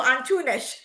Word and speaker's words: Antunes: Then we have Bruno Antunes, and then I learned how to pronounce that because in Portuguese, S is pronounced sh. So Antunes is a founding partner at BARV, highly focused on tax law.